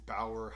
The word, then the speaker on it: Bauer: riddle me this what's one of the most anticipated lines of 2021 and rhymes with bower hyperlite stick around and i'll